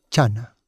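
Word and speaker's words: jhāna: En pali Diana se pronuncia chana.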